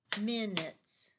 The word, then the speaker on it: minutes: the next one is minutes and it has a silent letter so we'll look at that am I an you t e s you don't hear a you in there do you minutes minutes you say you